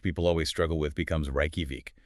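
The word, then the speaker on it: Reykjavík: So rakovic which people always struggle with becomes raiki. That j sound becomes a y precisely.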